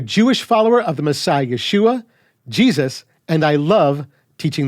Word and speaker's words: Yeshua: support this is the right way to say Yeshua welcome to the biblically correct podcast teaching biblical correctness in a biblically incorrect world my name is I am a Jewish follower of the Messiah Yeshua Jesus and I love teaching the scriptures when